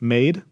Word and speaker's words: MAD3: talk about segue and I pronounce this maid okay mad3 is the